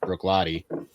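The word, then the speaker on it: Bruichladdich: is is ends in ich 2 but it's pronounced brook lottie not brook cool neat sequin fidditch damn it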